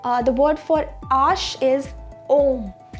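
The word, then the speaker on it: homme: Ash is, the word for ash is om. We don't pronounce H in French, and H is silent in French.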